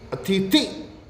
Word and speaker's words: अतिथि: ही मैंने बताया कि अतिथि थी, ऐसा तो बोलते ही नहीं हम। अतिथि, मुख्य अतिथि ई बोलते हैं, तो हमें ये बचना है। अतिथि छोटी ई आएगी अंत में।